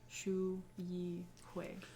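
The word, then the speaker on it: Xu Yi Hui: Shu He Hui is spelled XU space YI space HUI. Shu Yi Hui.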